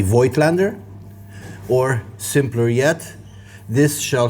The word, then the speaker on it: Voigtländer: in arms about it I know full well this is pronounced F Lander but I'm not a psychopath so I'll just call it the void Lander or simpler yet this